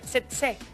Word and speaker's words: tsetse: Bueno, conocemos y hemos visto el mosquito como lo decía Ana María, el tsetse, se pronuncia así, ¿verdad?